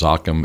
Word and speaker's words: Zoccam: So it's Zoccam, and just download it and use it. Pronounced Zoccam as in Soccam.